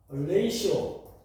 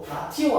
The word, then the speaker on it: ratio: 이거를 우리가 레이시오 RATIO 라티오 아니야. 라티오 아니고 이거 발음 기네스 발음이죠. 레이시오.